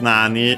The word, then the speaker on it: nani: Yeah, first Nani on its own, interrogative pronoun, which means what. Here with accent on the na, on the first syllable.